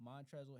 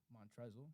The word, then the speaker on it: Montrezl: You know you don't pronounce the L. It's just Montrez. Montrezl.